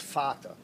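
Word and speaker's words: Vater: it's the ampulla of Vader v-a-t-r Vader in German is pronounced fata so again I don't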